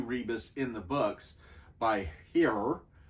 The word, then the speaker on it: hir: They basically referred to Rebus in the books by Hir. I think that's how you would pronounce it, but it would be H-I-R.